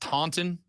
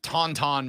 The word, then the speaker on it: Taunton: first off I think it's pronounced Taunton t-a-u-n-t-o-n that's Tonton Massachusetts I think it is tongue you know what the temperature is in Tonto Massachusetts right now 57.